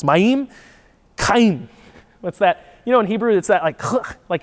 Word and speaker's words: Mayim: best, would be Mayim, because you always put in Hebrew, the emphasis is on the second syllable, so it's Mayim, Chaim.